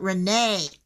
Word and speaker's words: Rena: My mom spelled it Rena, but pronounced it Renee.